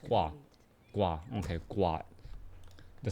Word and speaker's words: Guagua: greatly greatly appreciated less subhype ones there it's pronounced wah-wah okay quad the sounds that frogs make well